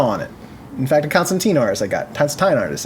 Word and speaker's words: Constantine: a blank issue of Constantine hellblazer Constantine I'm sorry hellblazer uh no you said it right the first time don't worry about it